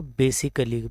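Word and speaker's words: basically: अक्सर इसको wrong pronounce करते हैं इस वर्ड को बेसिकली बोल के, बट इसकी जो राइट प्रोनाउंसिएशन है वो है बेसिकली। ए इसमें प्रोनाउंस नहीं होता बेसिकली, ख़ास तौर पर।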